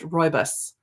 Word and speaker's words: rooibos: Phonetically, it's pronounced rooibos.